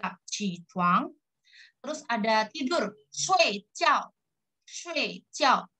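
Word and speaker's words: 睡觉: Shui jiao. Bukan shui tapi shui. Bacanya e. Walaupun tulisannya SHUI.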